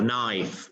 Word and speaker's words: knife: If you say no, so silent K. You don't pronounce the K. You just say no, or knowledge, or knife, even with knife.